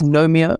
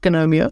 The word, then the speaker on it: Gnomeo: it still says it's no Mia it's not gonomia it's nomia I know as I said that as the g is silent I know I know